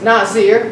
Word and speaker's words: Nazir: Jusinius Hebrew Chaldee Lexicon defines Nazir, or yes, Nazir, both of them are pronounced Nazir, as meaning from the root consecrated.